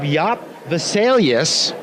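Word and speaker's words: Jaap Wesselius: And we're fortunate to have Jaap Vesalius with us today, is that correct? Yeah, you pronounce it pretty well, thank you.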